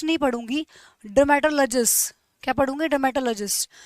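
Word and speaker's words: dermatologist: Logy बोल रही हूँ, लेकिन जब ये किसी वर्ड के साथ जुड़ जाता है ना, तो उसकी प्रोनाउंसिएशन लॉजी ना होके हो जाती है लजी। जैसे कि मैं इसको डर्मेटोलॉजिस्ट नहीं पढ़ूंगी, डर्मेटोलॉजिस्ट क्या पढ़ूंगी, डर्मेटोलॉजिस्ट।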